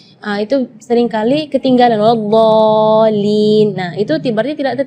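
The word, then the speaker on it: وَلَا الضَّالِّينَ: Di kalimat ini juga waladdallin yang perlu diperhatikan adalah madnya juga. Mad di situ kita harus panjang membacanya 6 harakat, karena di situ hukumnya mad lazim kalimi mutsaqqal, jadi membacanya waladh 6 harakat. Terus setelah waladh di situ ada huruf lam yang ada di atasnya ada tasydid.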